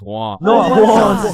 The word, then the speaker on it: Juan: That's just how it's pronounced. Jan, is there Jawan in the room? It's Juan.